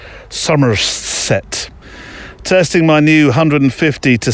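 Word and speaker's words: Somerset: Nature Reserve in sumet you have to say it like that sumerset testing my new 150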